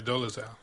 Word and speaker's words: Dolezal: this lady's name was it Rachel hold on dozer yeah is it doles out yeah Dolezal okay you heard about her yes yes um